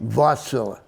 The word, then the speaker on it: Wärtsilä: And they pronounce it Wärtsilä. Okay. Wärtsilä. Okay. And they said it about 9 times, so I heard Okay, them. I believe you, Tom. Well, Wärtsilä is swapping batteries for waterway vessels in the Netherlands.